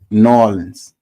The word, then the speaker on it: New Orleans: said New Orleans is exactly how people not from here think we sound saying it norleans that's the how they